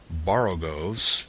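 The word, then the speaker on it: borogoves: rhyme with grows again the first Oh in Baro goes is pronounced like the O in Baro I have heard people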